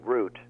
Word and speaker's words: route: u t e well I say root as in the root of all evil you say like so